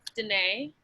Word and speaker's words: Danae: Deanna or Dina. Is that, how do you say it? Dina? Go ahead, unmute yourself. It's Danae. Danae!